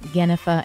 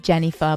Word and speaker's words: Jennifer: lots of lot likes to pronounce my name ganefa instead of jennifer but that's okay he